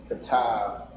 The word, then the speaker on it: Qadash: like we'll say, like my name is Qadash, but it's spelled with the CHAA and not the KA, which I would say a hard ka. So you almost, most people look at it and want to say cha.